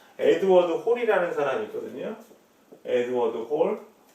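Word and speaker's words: Hall: 이것도 읽으실 때 헬, 뭐 헐 이런 하시면 안 돼요. 이걸 갖다 또 헐이라고 읽으면 진짜 헐, 진짜 놀래요. 이거 우리 이거 뭐라고 읽어요? 쇼핑몰 그러죠? 같은 맥락으로 읽으시면 돼요. 에드워드 홀.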